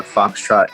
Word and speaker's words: Fauxtrot: yeah so uh we're on instagram it's a foxtrot it's spelled this way so f a u x